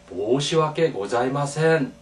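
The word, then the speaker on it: 申し訳ございません: 그러나 보다 이제 이것을 정중하게 하려면 너무 하고 모시와께 고자이마센 이라고 하는 아주 그 정중한 표현이 있습니다. 그때 뭐라고 읽냐면 모시와께 고자이마센.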